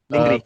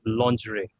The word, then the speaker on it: lingerie: Lingri. The correct pronunciation is lingerie.